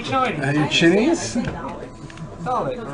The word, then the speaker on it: Dalek: For people complaining about how I'm saying Dalek, you need to watch Doctor Who, and that's how they say Dalek, alright? I'm saying it correctly.